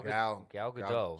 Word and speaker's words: Gal Gadot: Shout out to Yeah, Gal Gadot because Word. I heart you. Yeah, what? Gal Gal- Gadot.